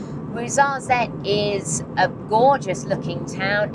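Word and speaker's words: Ouarzazate: But we are off to the town of Wuzzette. And yes, I have Googled that pronunciation. Wazarette is a gorgeous looking town.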